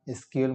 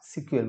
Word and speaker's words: SQL: এসকিউএল অর্থাৎ এটার উচ্চারণ হয় এসকিউএল বলি বা সিকিউএল বলা হয়ে থাকে।